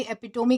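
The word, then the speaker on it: epitome: एपिटोमी कहेंगे, या फिर एपिटोम भी इसे प्रोनाउंस किया जाता है, तो उसे हम जो है वो कह सकते हैं।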